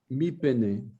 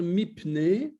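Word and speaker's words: מפני: Donc, on a tendance à dire mipne, mais ça devrait être théoriquement mipene. Oui. C'est un peu à cause du dagesh, quoi, en fait.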